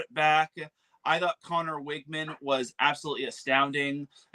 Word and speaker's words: Wageman: Wiggman, is that how you say his name? Wiggman.